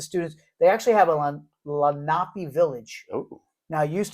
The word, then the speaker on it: Lenape: here in Bucks County, they call it Lenape Middle School, Oh, okay, yeah. but I Lenape. believe it's pronounced Lenape.